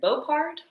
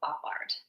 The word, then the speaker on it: Boppard: So an example, I'm not 100% sure how to pronounce this. It's either Beaupard or Boppard. We're going to say Beaupard.